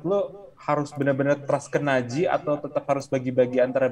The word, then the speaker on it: Najee: Nah, tapi kalau misalnya mulai load-nya dibanyakin ke Najee kalau sini, sana bacanya Najee.